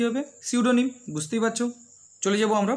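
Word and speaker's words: pseudonym: প্রথমে আছে দেখো সিউডোনিম, শুরু হয়েছে পি দিয়ে কিন্তু উচ্চারণ হবে সিউডোনিম।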